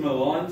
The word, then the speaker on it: Milan: I didn't know, they call it Milan. Milan, it's spelled the same, but Milan.